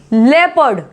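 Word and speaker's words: leopard: लेपर्ड, लियोपार्ड नहीं बोलते हैं, ठीक, कुछ लोग बोलते हैं इसको लियोपार्ड या लियोपर्ड, नहीं, लेपर्ड, लेपर्ड।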